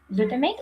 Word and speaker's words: glutamate: Glutamate or glutamat, because in Ukraine we pronounce the term as glutamat. I hope that in English this term is pronounced like glutamate.